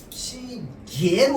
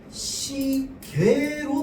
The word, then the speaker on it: 시계: 따라서 시계 이러면 얘는 시계로 발음해도 되고요 시계로 발음해도 됩니다.